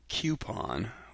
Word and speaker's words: coupon: It looks like, let's see, make sure I spell that right, C-O-U-P-O-N. So it looks to me like coupon, although that doesn't have a Q-U in it.